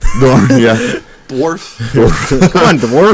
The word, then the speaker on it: Dorn: Yeah, and it was to mispronounced his last Michael name. Dorn. Yeah, Michael Dorn. Thank you. Yeah. I said Dorf. Dorn, yeah.